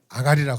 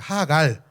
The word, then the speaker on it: 하갈: 이름이 누굴까요 하갈하다 하갈 하갈 아가리라고 하지 마시고 하갈 발음을 정확하게 하셔야 돼 아브라함과 사례는 하나님의 약속을